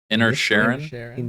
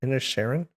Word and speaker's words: Inisherin: the way, a little movie that I'm gonna mispronounce, The Banshees of Inisherin. Inner Sharon? Inna Sharon, yeah, I Inna- think. Inisherin?